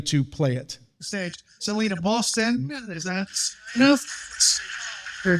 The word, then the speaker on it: Polston: Polston.